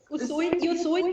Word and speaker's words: Usui: discuss the Reiki of, is it Usui? Usui, yes. Usui.